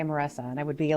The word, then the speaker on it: Marissa: I'm always proud to say that it's like Teresa with an M, Marissa. I know it looks like it's spelled like Marissa, but my parents were immigrants to this country. They met here. They're both from the Philippines. And growing up, I was always Marissa, the rolling R.